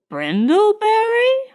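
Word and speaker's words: Brindlebury: n d l e b u r y brindleberry pronounced binur the old Sussex name which ma'am I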